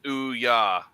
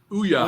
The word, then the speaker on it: Ouya: James says it's Ouya. Ouya. All right. So that's how you pronounce that.